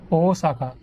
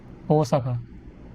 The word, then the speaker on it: Osaka: Osaka, you just, a quick pronunciation, Osaka. To them, it's Osaka. So there's an emphasis on the beginning, the O, Osaka.